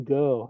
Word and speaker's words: Ng: Andrew Go, and that's spelled his last name is NG, but it's pronounced Go.